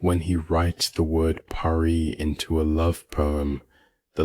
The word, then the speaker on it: pari: Pari, two syllables.